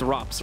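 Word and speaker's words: ropz: final score 19- 15 is it RS or ropes though that's that's the big question it's robs Rob I'm saying it right I've been saying I've been saying RS this whole time I think it's hard to like for me it's hard to consistently say robs for some reason I always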